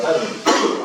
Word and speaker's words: Tanja: Se escribe Tanja, T-A-N-J-A, pero se pronuncia Tania.